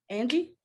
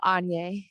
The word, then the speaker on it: Anya: Angie? No, Anya.